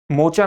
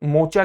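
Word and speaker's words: Mocha: मोचा नाम किसके द्वारा दिया गया है? मोचा नाम यमन से आया है और जिसका उच्चारण मोखा के रूप में भी किया जाता है।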